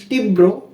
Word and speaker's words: তীব্র: কিসের মধ্যে পড়লো যে যখন কোন শব্দের মধ্যে বা শেষে র ফলা থাকবে সেই ব্যঞ্জন বর্ণটির উচ্চারণ হবে দুইবার কয়বার দুইবার যেমন তীব্র